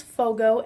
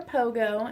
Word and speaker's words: Fogo: this is my firstborn this is Fogo f OG oh not bogo or Pogo as people who said before I think even the vet pronounces it wrong sometimes but this little guy